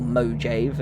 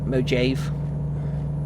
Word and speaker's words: Mojave: So, we're not going into Mojave or Mojave as I should say, as it's That's how it's spelled, that's how it's pronounced. Mojave. Mojavi.